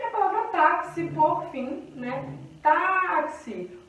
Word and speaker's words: táxi: E a palavra táxi, por fim, né? Táxi. O tá é a sílaba forte.